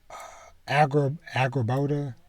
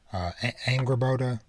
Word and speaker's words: Angrboda: Angrboda, I believe is how you pronounce her name. Angrboda.